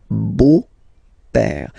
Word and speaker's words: beau-père: the beautiful father, le beau-père. So remember this E, A, U combination of vowels only give you the sound O, beau, okay, le beau-père.